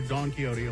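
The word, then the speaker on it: Don Quixote: why is it called Don kiote yes uh they discover uh something new every time they visit the franchise was named Nam after the literary character Don keyote although it's spelled different mhm uh and uh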